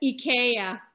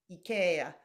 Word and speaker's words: IKEA: IKEA. IKEA. So we all need to recognize the Swedish roots of that.